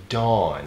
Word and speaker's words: DAWN: Today we're watching one of my favorites, Kang Daniel movie featuring Dawn, but it's spelled D-V-W-N.